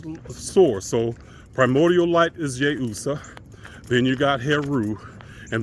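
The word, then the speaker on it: Iusa: So the first level was Yeusa, I-U-S-A, and the I is pronounced with a Y, with the Y sound, but Yeusa.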